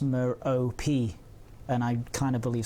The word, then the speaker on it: Merope: Scott Manley says that it's pronounced Merope, and I kind of believe Scott Manley, I'm going to have to say, unfortunately.